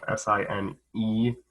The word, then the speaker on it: sine: the sine function right it's spelled s-i-n-e the most the time when we use it we use s-i-n but we still call it sine so so is the